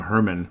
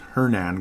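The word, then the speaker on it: Hernán: wano Herman Hernan Hernan I keep calling him Herman but it's Hernan Gomez Hernan or however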